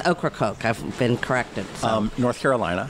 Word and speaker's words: Ocracoke: you guys found in horik hope I pronounced that right oh yeah I've mispronounced it but it's Ocracoke I've been corrected North